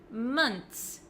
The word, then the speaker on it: months: I do say is months months six months months so it looks like this it looks like there's just a TS at the end I don't pronounce the h months months make sure